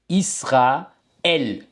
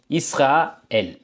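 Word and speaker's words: Israël: பார்த்தீங்க என்றால் இதை வந்து நாங்கள் இஸ்ஹா எல் என்று வாசிப்போம் இங்கே பிரிச்சிட்டோம் ரெண்டையும் ஒரே சொல்தான் ஆனால் உச்சரிப்பு பாதி பாதி இஸ்ஹா எல் ஓகே அதேபோல இப்ப பிரெஞ்சுல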